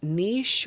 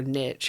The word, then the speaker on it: niche: Uh The Other Side of Madness is a niche or niche, however you say it. I've heard that word pronounced both ways.